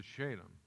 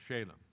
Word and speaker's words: Shalem: it for you but that's actually pronounced shalem and jacob journeyed to